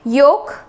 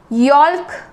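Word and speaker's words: yolk: Next is एग योक, एग योक, इसको हम यॉल्क नहीं बोलेंगे या योल्क नहीं बोलेंगे, एल को साइलेंट रख के योक, एग योक, योक, ठीक है।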